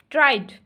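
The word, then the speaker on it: tried: decided light T टी ट्राइड ट्राइड D enjoyed D ठीक है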